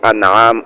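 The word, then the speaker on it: أنعام: হবে উপহার উপঢৌরকণ পুরস্কার আর হামজার উপরে জবর দিয়ে আনআম উচ্চারণ করলে এর অর্থ হবে চতুষ্পদ প্রাণী যে সকল প্রাণী চারপা দিয়ে হাঁটে যেমন গরু ছাগল ইত্যাদি এগুলো বুঝাবে গরীবকে বাচ্চু অর্থ হলো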